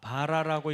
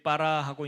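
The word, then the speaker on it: ברא: 원래는 바라라고 읽지 않고 여기 빠라하고 읽는 이유가 이 앞에 안에 있는 점 때문에 그렇거든요.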